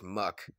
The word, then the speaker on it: Muk: Yeah, that's just Muk. Oh, well, that is Muk. Oh, and also, it rhymes with puck, like a hockey puck, and rhymes with duck, and also rhymes with...